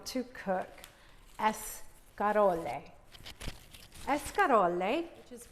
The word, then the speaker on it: escarole: Escarole, which is pronounced escarole. The Italians like to roll that R and they say escarole.